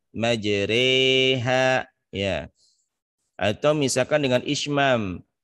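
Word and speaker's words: مجريها: yang rada berbeda misalkan tulisan majroha bacanya majreha ya atau misalkan dengan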